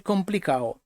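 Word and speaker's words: complicado: В багатьох випадках, і це не тільки в Андолосії, замість комплікадо кажуть комплікао. І в цьому анекдоті воно також зустрічається. Але це просто-напросто така особливість вимови. Хоча д пишеться, але воно не вимовляється.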